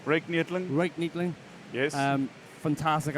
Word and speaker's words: Ryk Neethling: How do you pronounce that name? Ryk Neethling.